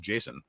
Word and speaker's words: JSON: uh douglas crockford saying it was intended to be pronounced jason and uh everyone started calling it json and he was cool with it but i'm gonna keep calling json anyhow so it's just